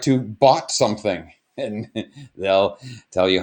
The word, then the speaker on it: baht: It's spelled B-A-H-T. It's pronounced baht, but that is how you would go up to someone and say, "Hi, I'd like to baht something."